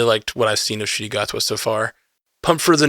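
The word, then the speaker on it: Ncuti Gatwa: to thank nerdy tastic for educating me on how to pronounce shoy gwa because I think when we said the name in a previous episode I was nowhere near that yeah uh me neither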